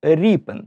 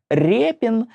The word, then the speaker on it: Ріпин: роту ріпи тому і записують його прізвище як ріпен через ядь однак російською мовою Воно читається як Репін і тому навіть у